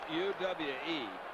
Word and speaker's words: Uwe: Uwe, it's not Uwe, it's U-W-E. How you pronounce it? It's Uwe.